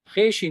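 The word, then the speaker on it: خوش: दिल की बदी से ख शी पे खुश ख शी पे खुश वाव साइलेंट है पूरा साइलेंट लिखा जाएगा पढ़ा नहीं जाएगा ख शी पे खुश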